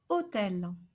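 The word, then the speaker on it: hôtel: third case in which we should pronounce a closed o is when topped with a circumflex accent like in the word hotel hotel C Coast roll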